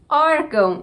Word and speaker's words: órgão: Órgão tem o acento agudo e tem o acento que é o til, que é apenas um acento de marcar nasalização. Então o til não indica pra gente a sílaba mais forte, o papel dele é só sinalizar a nasalidade. Então a sílaba mais forte aqui é o or.